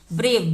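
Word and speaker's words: brave: तो यहां पे हम ब्रेव से पढ़े हैं इ का उच्चारण नहीं होगा किसी भी वर्ड में लास्ट में इ का उच्चारण नहीं होता है ई साइलेंट होता है ठीक है ब्रेव मतलब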